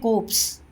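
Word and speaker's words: corpse: like that of ए कोप्स आर इसमें silent है कोप्स means होता है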